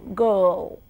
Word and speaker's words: girl: If you look at girl in spelling, Girl, I and R together there is no R in pronunciation. It's just the girl, girl.